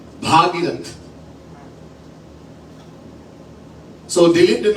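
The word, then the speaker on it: भगीरथ: और दिलीप के पुत्र भागीरथ, अब सही उच्चारण होना चाहिए, भागीरथ.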